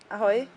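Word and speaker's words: ahoj: Ahoy?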